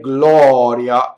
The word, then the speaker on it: gloria: closed or open so the open ball is in the word glory are you see it like the third word in right Gloria it's like aw aw again without the glide and plain old clothes